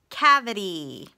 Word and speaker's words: cavity: We hear a schwa in the middle. Cavity. So that is when the I is in the middle, sounding like schwa. It's an open syllable exception. We've got a closed syllable with a short A and the Y making the long E sound, which is expected.